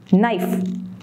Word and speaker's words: Knife: Knife, K silent. Listen, T silent.